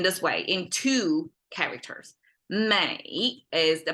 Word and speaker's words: 美: unpack it in this way in two characters Mei is the pronunciation and it essentially means Beauty um and